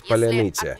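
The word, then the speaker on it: паляниця: In Ukrainian, it's polyanitsa. If you answered incorrectly with errors or mispronounced, on your knees and a bullet to head.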